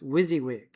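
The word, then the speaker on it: WYSIWYG: You know what's the when you pronounce the acronym it's wizzywig, right?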